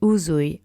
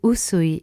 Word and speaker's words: Usui: So which is the correct pronunciation? 1. Shine Shine Kaizen Uzui Reiki Ryoho, or 2. Shin Shin Kaizen Usui Reiki Ryoho.